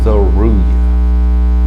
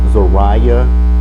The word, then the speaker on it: Zeruiah: camera to record, and people say it 2 ways, right? Because it said that people can say it Zariah or Zeruiah.